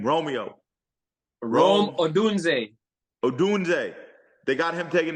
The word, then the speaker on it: Odunze: I know Odunze is still out there.